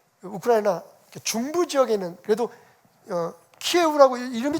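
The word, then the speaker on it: 키이우: 중부 지역에 있는, 그래도 키예우라고 이름이 좀 바뀌었더라고요. 우리는 키예브 그랬는데 이제는 우크라이나 발음으로 한다 해서 키예우라고 부르는데, 그 키예우에 있는 사람들은 그나마 그래도 조금 그 여유가 있대요.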